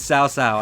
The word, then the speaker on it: Cao Cao: When the actual pronunciation is Cao Cao.